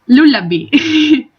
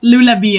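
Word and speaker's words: Lullabi: That's how we spell it. Lulabi. But it's so cute that you said it like Lula be as in the bee.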